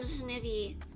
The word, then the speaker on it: Snivi: the crucial information wrong I am Madame Snivy not penguin no pee no pee in that s-n-i-v-i and I'm a qualified